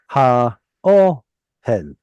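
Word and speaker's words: הָאֹהֶל: it's three syllables. And that second syllable has an O vowel right there. Okay. Separate it from the cantillation mark. Ha o hel.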